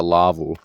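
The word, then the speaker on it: laavu: this is what's known in Finland as a Lavo which is basically a shelter or a hut it's spelled l-a-a-v-u and they're located all over Often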